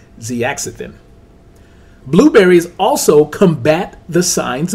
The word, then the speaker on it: zeaxanthin: Previously, on words that I could not even pronounce, the correct pronunciation of the word is zeaxanthin.